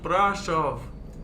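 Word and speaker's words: Brașov: Blue says, it's pronounced Brashov. Brashov. Is that better?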